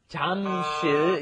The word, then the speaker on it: Jamsil: Notice it's not spelled Jamsil, it's Jamsil is the spelling, but the pronunciation, of course, is right in between that J and that CH, isn't it?